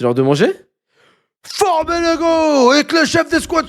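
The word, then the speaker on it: 五: Son nom renvoie au chiffre 5 qui se prononce go en japonais.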